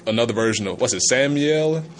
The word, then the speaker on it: Samael: them something like another version of what's it, Samuel? How you pronounce it, Samuel? Samael.